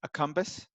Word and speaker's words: accumbens: Is it A, nucleus accumbens? Did I pronounce that right, Dave?